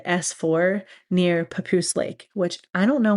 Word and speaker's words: Papoose: facility called S4 near Papoose Lake, which I don't know where Papoose Lake is. Maybe someone out there does. I just think the name's kind of funny because it rhymes with caboose, you know?